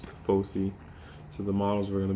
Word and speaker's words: Tifosi: I don't know how you guys are going to pronounce it, but it's Tifosi.